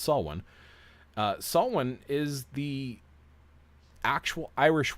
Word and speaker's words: Samhain: don't know how to pronounce it will say Samhain, but it's actually pronounced Samhain.